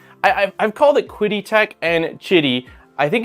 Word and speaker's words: Qidi: To me, like, I look at it and I see Qidi, but I believe Q is pronounced like chi, like CH.